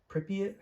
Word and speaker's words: Pripyat: Okay, so in the video game, uh Sergeant MacMillan, I believe his name was, there have been Pripyat Pripyat, that's how you pronounce it, Ukraine.